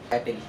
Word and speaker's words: battle: ஒரு சில வார்த்தைகளை சொல்லுங்களேன் பார்ப்போம் எப்படி சொல்றாருன்னு பேட்டில் பேட்டில் அப்படின்னு சொல்லி இருக்காரு பிஏ டி எல் இதை